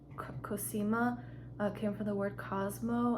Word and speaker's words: Cosima: a nature name and the first one is cosima that's how I pronounce it I love it but Henry said no because it sounds like like Cocina which is kitchen in Spanish but I think cosima is so pretty other in England they pronounce the kasama which I don't really like I don't like kasama I like cosima I think that's pretty